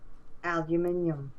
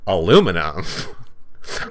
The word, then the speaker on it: aluminum: I'm gonna stop talking you say the word again and go albumin it's aluminum I don't know how